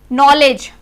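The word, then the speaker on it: knowledge: ऐसे ही नो, नॉलेज, क्योंकि एन से पहले वर्ड आ गए ये, तो ये हमारे साइलेंट हो जाएंगे सारे वर्ड्स।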